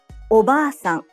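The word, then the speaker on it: おばあさん: Oba-san. The a in ba is held for 2 claps.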